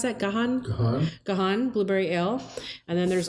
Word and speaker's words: Gahan: the show, and that's the, how do you pronounce that? Gahan Blueberry Ale.